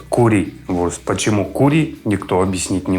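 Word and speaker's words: Currywurst: Как вы видели и называется Кари Вурст вернее немцы произносят кури Вурст Почему кури Никто объяснить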